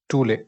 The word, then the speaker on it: Thule: Ultima Thule. It's pronounced as Tooleh, Thule.